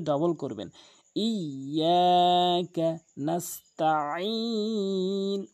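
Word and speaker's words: نَسْتَعِينُ: ইয়াকা নাস্তাঈন, অধিকাংশ লোক নাস্তাঈন বলে, নাস্তাঈন। যারা নাস্তাঈন বলেন তাদের অর্থ চেঞ্জ হয়ে যায়। নাস্তাঈন, আইনটি হলকের মাঝখান থেকে।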